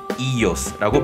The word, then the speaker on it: Ήλιος: 참고로 현대 그리스어에서는 같은 철자를 쓰지만 발음은 달라졌기 때문에 태양을 이오스라고 부릅니다.